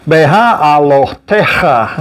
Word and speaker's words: Behaalotecha: Behaalotecha. There we go. So it's a bunch of syllables there in long order there. It's got 1, 2, 3, 4, 5. It's got 6 syllables in it.